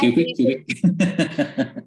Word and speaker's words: QWK: Nó là Q-week. Đọc Q-week, sorry ha, không nói rõ. Nó viết vậy thôi, nhưng mà nó đọc là khác. Đọc là Q-week, đọc là every week. Q-week, every week.